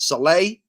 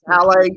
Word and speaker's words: Saleh: How do you pronounce his last name? Is it Saleh? No, I think I've asked Joe that question 15 times. Saleh.